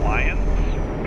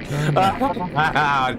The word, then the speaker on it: Lyon: Did you just say Lions? Excuse me, Lyon.